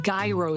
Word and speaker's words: gyro: a bun, served with, you can never say tzatziki, you have to say gyro sauce, because this is a Southside sandwich, and that's how you say it on the Southside, gyro sauce.